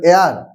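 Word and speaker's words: heir: দেখো এখানে অনেস্ট বলছি, এখানে আবার বলছি, এখানে এয়ার, এই উচ্চারণটা কি? এয়ার, এইচ দিয়ে শুরু হচ্ছে তো উচ্চারণটা হচ্ছে এয়ার।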